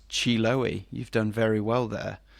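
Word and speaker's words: Chiloé: So I have just looked up how to pronounce that word, and it's Chiloe.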